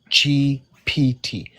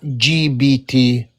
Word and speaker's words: GPT: It's Chat GPT, not GBT. There's a difference with P and B.